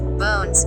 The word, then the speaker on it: Bourne's: Soon after 1872, Robinson's wire chute gave way to nearby Bourne's Landing, pronounced Bones, due to the comparatively safer anchorage at that location.